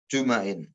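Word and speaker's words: جُمَعٍ: Wa qala sallallahu alaihi wasallam man taraka salasa juma'in bidhamin fafutiha. Setelah juma'in itu dibaca juma'in itu jamak ya. Jamak dari kata jumu'ah. Juma'in bacanya. Bidhamin jimnya di dhammah, mimnya di fathah. Juma'in. Barang siapa meninggalkan sholat Jumat 3 kali.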